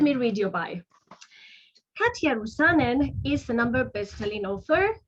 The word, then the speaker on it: Rusanen: With us today, I have a guest, and her name is Katja Rusanen. Hi, Katja. Have I pronounced your last name properly?